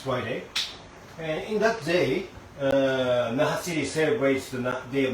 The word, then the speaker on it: Naha: This is the day of Naha because we can call Nana. We pronounce it 7 for Nana and 8 for Hachi, and then Naha.